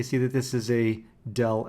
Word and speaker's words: del: y that upside down triangle with f it's pronounced del f the upside down triangle vector itself is